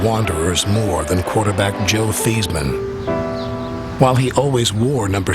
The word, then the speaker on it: Theismann: We're going to change your name from Theismann to Theismann to rhyme with Heisman.